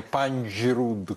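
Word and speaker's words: Панджруд: Панджрут. Андрей учил на вручении, да, произносить. Трудно приносить, да, говоря, Панджрут, что там должно быть смягчение Панджрут.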